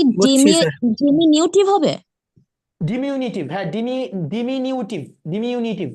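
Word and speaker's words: diminutive: এই ডিমিউনিটিভ শব্দটা মানে হচ্ছে একদম ছোট, একদম সূক্ষ্ম, একদম সূক্ষ্ম অথবা ছোট, ডিমিউনিটিভ।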